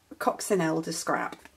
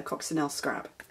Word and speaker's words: Coccinelle Scrap: I know her name's Chantal, but it's Coccinelle de Scrap. No, Coccinelle Scrap. It wouldn't be de, that would be German.